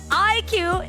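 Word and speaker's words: iQOO: Oh, what about Aiku? Aiku, you even said it wrongly, Mr. Producer. So IQ is one of our official phones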